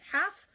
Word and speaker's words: half: proper way to dictate half walk and talk in l1 okay so all of these words have silent letters so how do we dictate when she says the L seem silent yay it is Vanessa